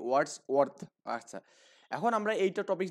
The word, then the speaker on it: Wordsworth: আর্থ, মানে দুটো একসাথে তো এই জন্য একটু উচ্চারণের সমস্যা হবে। ওয়ার্ডস ওয়ার্ডস ওয়ার্থ, ওকে? ওয়ার্ডস ওয়ার্থ।